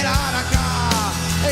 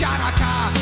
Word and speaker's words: Hanukkah: Tell that old Monica it's time to celebrate Hanukkah. It's not pronounced Chanukah. The C is silent in Hanukkah.